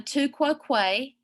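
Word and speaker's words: tu quoque: two of our favorites first of all the two quo quay and yes we learned how to pronounce that correctly you're welcome um for this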